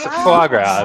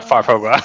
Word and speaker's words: foie gras: No, it's foie gras, not farfogras.